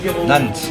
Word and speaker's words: Nantes: Comment tu prononces Nance ou Nance? Nantes.